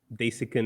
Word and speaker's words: Desikan: Desikan is how we pronounce it back in India, but I'll take what you give me then.